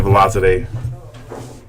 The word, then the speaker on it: Valizadeh: up and coming Sina Valizadeh versus Jaynard Orque. Sina, how you say your last name? I said it right? Valizadeh, right?